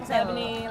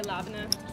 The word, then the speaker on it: labneh: little oranges and the labneh. I always feel like I'm saying it wrong. There's a bunch of different ways to say it. Labneh, labneh. Okay. We just say labneh.